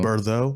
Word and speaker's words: Burrow: I feel like it should be like Burrough, like a though, Burrow. You know, Burrow.